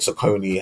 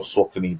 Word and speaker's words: Saucony: I think Saucony have done, or Saucony, depending on how you say it, have had a decent year.